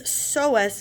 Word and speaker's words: psoas: That is psoas major. Now, psoas is spelled with a P-S-O-A-S.